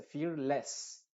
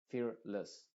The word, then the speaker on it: fearless: también pasa lo mismo no se dice fearless con la e muy clara sino con una sha fearless l andless l carel